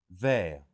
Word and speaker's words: vers: Il finit son travail vers 5 heures. So this is another use of vers for around or close to. And the S is silent.